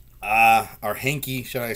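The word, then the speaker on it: Heinicke: starting quarterback fitzpatrick is done it's gonna be henny uh or hinky should i say that's how you pronounce his name i know people are asking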